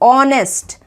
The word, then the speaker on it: honest: वैसे ये जो शब्द है ये स्टार्ट तो हो रहा है एक कॉन्सोनेंट से। एच एक कॉन्सोनेंट है, इसके सामने हमें अ लिखना होता है, तो हिसाब से आप तो इसके सामने अ ऑनेस्ट मैन लिख देंगे। लेकिन प्रोनाउंसिएशन बहुत ही इंपॉर्टेंट है। प्रोनाउंसिएशन हम एक वॉवल का निकाल रहे हैं। वॉवल कौन सा? ओ वॉवल का।